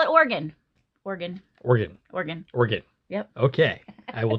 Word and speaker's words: Oregon: So, pronounce it Oregon. Oregon, okay. Yeah, that's how the locals will say the word. Ah, okay. Yeah, you definitely sound like a tourist when you say Oregon.